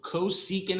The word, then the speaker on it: cosecant: says CSC that is short for coant so cosecant is how we pronounce it but then look at the fraction